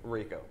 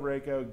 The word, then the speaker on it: Reiko: Reiko. Right. Did I say it right you that time? You said it wrong. Reiko.